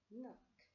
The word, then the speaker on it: knock: Letter K with N, I cannot read them together.